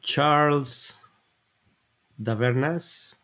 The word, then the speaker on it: Charles Davernas: They're so Charles Davernas. Am I pronouncing it correctly? Yeah, perfectly.